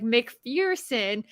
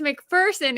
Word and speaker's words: McPherson: I wanted to say like McPherson but it's McPherson and they will argue with